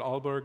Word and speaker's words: Aalborg: You also hold positions in Denmark, including visiting researcher at Aalborg University. Did I pronounce that correctly?